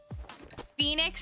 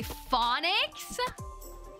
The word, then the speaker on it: Phoenix: getting your name wrong Phoenix and people say phonic oh everyone always thinks